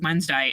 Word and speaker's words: Wednesday: And knowing that it's pronounced Wednesday, and I don't say it that way, but in my head when I'm writing it, I say wed so that I make sure I get all the letters.